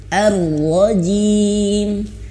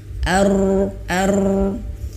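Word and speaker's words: الرجيم: Kemudian ada juga yang lain berpendapat yang lain, ro-nya ini getarannya sampai habis, artinya sampai selesai getarannya, tapi getarannya tuh pelan. Nah ini termasuk saya belum menguasai daripada pengucapan ini ya. Nah jadi getarannya tuh ada tapi kecil gitu. Ar-rajim. Jadi getarannya ada ar-rajim gitu ya.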